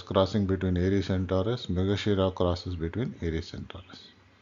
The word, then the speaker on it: Mrigashira: Its pronunciation when you talk about it is Mrigashira. That is how you have to pronounce it.